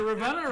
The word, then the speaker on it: Ravenna: People from Ravenna call it Ravenna, even though it's spelled Ravenna. Dusty Fairfield, the longtime coach there, still says Ravenna. He said, the funny thing is, he always told us, educated people say Ravenna.